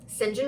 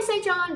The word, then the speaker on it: St. John: So now we've got Mary and Diana's brother, St. John Rivers. It looks like St. John, but it's actually pronounced St. John, which I didn't know until I watched the movie several years ago.